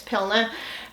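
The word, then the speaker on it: Pliner: Pilner. That's how you say it. Yeah, it's Pilner.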